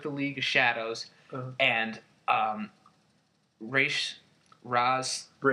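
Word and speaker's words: Ra's: League of Shadows and Raz, however you want to pronounce it. There's no hatred here, but it is Raish.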